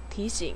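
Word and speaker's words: 提醒: 뜻은 설득하다예요 자 번에 디싱 이성 3성 디싱 디싱이라는 거는요 일깨워주다 알고 있거나 혹은 잊어버릴 것 같은 일 그런 일들은 상기 는 거 디싱 예를 들어서 3시에 회의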